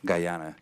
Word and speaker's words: Guyana: to the Spain trip and the, am I pronouncing right, Guyana? Guyana.